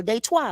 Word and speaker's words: Detroit: raised you know and what y'all call Detroit of the D or day twi what I call it what it is that's how you say it in French they twice right this is